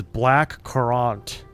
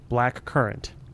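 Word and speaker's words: blackcurrant: Why do I pronounce this word as black corrant? Where did that come from? Apparently it is called black currant.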